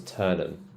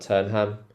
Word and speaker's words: Turnham: pronounce this yeah so this one's turnham it's not turnam turnham Green chisik chisik